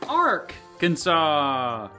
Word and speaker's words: Arkansas: The French word for bow is arc, so maybe the French explorers being all impressed with their bows influenced their pronunciation.